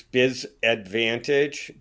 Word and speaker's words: BizAdvantEdge: It's Biz Advantage, but it's spelled BIZADVANTEDGE. So like an edge, Biz Edge.